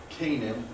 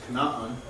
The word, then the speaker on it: Canaan: H is mentioned um as the father of Canaan is how we pronounce that it's not actually pronounced Canan um but we we see that mentioned because